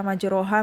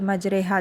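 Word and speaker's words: مجراها: Misalnya kan ma majreha ya, majraha menjadi majreha cara bacanya ya.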